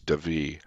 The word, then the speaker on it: Davee: I nice run by James how do you pronounce his last name it's David James Devi okay nice run by Mr Debbie and he